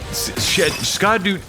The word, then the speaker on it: Scadu: radiant landscape of scadu scadu it's pronounced Shadow alus a beautiful domain